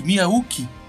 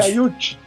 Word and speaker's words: Miyauchi: Mi, ô Léo, você tá usando uma, uma pronúncia nova aqui pra polícia da pronúncia. Eu nunca ouvi falar em Miyau, Miyauchi, Miyauki. O Hiroshi Miyauchi. Miyauchi.